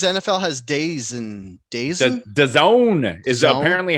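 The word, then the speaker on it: DAZN: maker no cause nfl has days and days the zone is apparently how it's pronounced uh d-a-z-m awful you're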